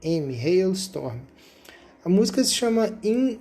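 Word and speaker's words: Halestorm: Chama Hil Storm. Se escreve H a L e S t o R. Hail Storm.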